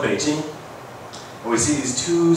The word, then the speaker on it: Beijing: blog before okay so the question is Beijing or ping and some people even say yeah yeah yeah you can spell it pcking but this is a romanization system so you really supposed to say Beijing even though it's spelled ping you say Beijing right so I looked